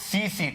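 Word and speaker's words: tsetse: इसमें कई बार पूछा जा सकता है इसके बारे में, तो सीसी टीएसआई, ठीक है, टी साइलेंट होता है, सीसी फ्लाई किसके वजह से होता है, सीसी फ्लाई के काटने से होता है।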